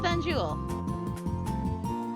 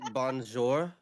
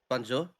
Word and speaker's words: bonjour: Rolled my tongue and pronounced it. She'll be so surprised to see Tay there. Anjul? How do you roll your tongue on bonjour? I know, it doesn't make any sense. Like, what the hell? There's no R sound. Like, I've been pronouncing it with kind of the Dutch Banjul, but Boy, boy. Isn't it bonjour? Bonjour? probably. Bonjour. Okay. Oh, Yeah, it's French bonjour.